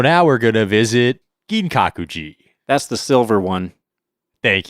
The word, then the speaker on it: Ginkakuji: So, now we're going to visit Gin Kakuji.